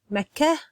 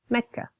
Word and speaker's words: Mecca: So, for example, Mecca, so I tend to have the soft H sound at the end, whereas opposed if you listen to Zaina's recitation, she says Mecca. So she has a softer A, where I have a softer H sound to end it.